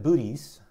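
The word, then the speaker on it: Boötes: constellation called looks like booties booties The New Yorker would put an umlaut on that second Oh to make it clear that there should be a break in the syllable so booties booties is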